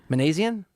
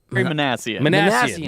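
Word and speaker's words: Minasian: Manassian? Magnesium is niacin. Manassian.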